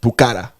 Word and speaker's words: Pokhara: I'm sorry, I think it's pronounced Pokhara.